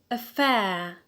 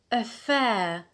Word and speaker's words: affair: next noun is the noun affair affair so as you can hear the stress is on the alt why because we have a diphthong in the last syllable so we have applied rule to b rule two b because we have a diphthong so the stress is on the alt affair the next noun is